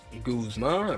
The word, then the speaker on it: Guzma: Guzma rhymes with Kyle Koozma.